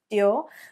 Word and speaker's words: Dior: is this brand so it is not christian christian dior so a chin there Christian Dior but it's Christian Christian Dior Christian Dior so rather than a CH so one more time Christian Dior Christian Dior ok this